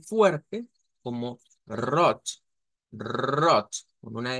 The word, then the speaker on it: rot: o lo podríamos pronunciar con una r gutural y y recordarán que ayer les decía en el Alemán habían o encontrábamos consonantes aspiradas Entonces cuando se usa esta pronunciación la t se hace aspirada Es lo que me